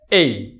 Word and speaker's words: A: যেমন এ, আমরা বলে থাকি এ না, এই শব্দটা বর্ণটার সঠিক উচ্চারণ হচ্ছে এই। কিরকম? আমরা কাউকে যদি ডাকি, দৃষ্টি আকর্ষণ করি, কি বলি? এই। যেরকমটি আমরা বলি ঠিক এই এভাবে উচ্চারণ করব।